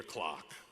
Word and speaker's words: Clark: Rhode Island to hear my last name Clark pronounced like the timepiece clock hickory dickory dock my name is Roy Peter clock from the Catholic perspective